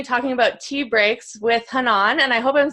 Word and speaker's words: Hanan: I usually joke that it's like ha ha, and then like non, like the bread. Nice. Hanan.